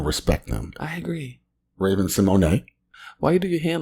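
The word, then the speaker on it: Symoné: Oh, there's an accent on the E.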